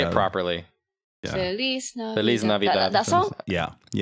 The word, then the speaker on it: Feliz Navidad: Feliz Navidad. Feliz Navidad. That song? Yeah, Oh, yeah, that song. shit. Your pronunciation is spot on for the one that